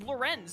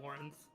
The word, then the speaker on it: Lorenz: Is it pronounced like the name Lawrence? It sounds like they just say Lawrence, but I always thought it was Lorenz because it's spelt so stupidly. No, I think it is like Lawrence.